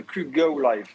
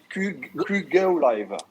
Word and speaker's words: QGo Live: le QGo Live.